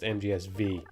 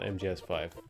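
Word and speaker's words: MGSV: kojima tweeted this once it is supposed to be according to him pronounced mgs v not mgs5 so of course matthew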